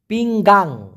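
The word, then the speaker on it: pinggang: মানে হলো কোমরে ব্যথা পিংগাং আমি কিন্তু পিংগান বলি নাই দেখুন একটা আছে পি আই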